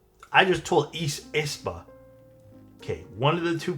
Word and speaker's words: Aespa: It's pronounced Aespa. I just told Aespa.